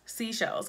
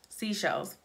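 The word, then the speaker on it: Seychelles: I save as seashells seashells okay get it like the shells by the sea but they spell it sey CH e ll es and so I literally can't say seashells looking at this say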